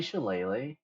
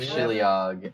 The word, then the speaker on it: shillelagh: is lethal so I wanted to consider like shillelagh or something next time is it actually shillelagh yeah I've been saying she Liang and making fun of butters for saying shillelagh